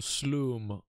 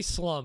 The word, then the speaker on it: Sloom: side with Fresh's beautiful Sloom armband. You can say slum if you want, but I'm partial towards pronouncing it the way I think the Swedish would pronounce it.